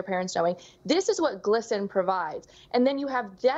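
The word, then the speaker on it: GLSEN: Yeah, so like you said in that intro, this individual that works at Target also works with Glisten, G-L-S-E-N. They pronounce it glisten, like sparkly, trans, magic.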